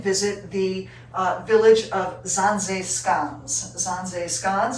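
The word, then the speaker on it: Zaanse: the village of zanzeskans zanze is how that's pronounced and it is a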